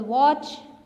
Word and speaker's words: watch: इसी तरह silent T होता है, फॉर एग्जाम्पल वॉच.